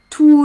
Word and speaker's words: tous: Quand j'ai tous les, je prononce pas le S.